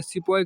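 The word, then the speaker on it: sepoy: सिपोय देखिए यहाँ पर सिपोय क्या है, देखिए सिपोय या सिपाही जिसे बोलते हैं। This is हाउ the British प्रोनाउंसेड the word सिपाही मीनिंग एन इंडियन।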